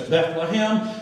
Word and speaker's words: Bethlehem: The word Beth is usually broken down as Beith, and it means house, loosely, okay? And then the last part of that, Lechem, which we pronounce it in English as Bethlehem.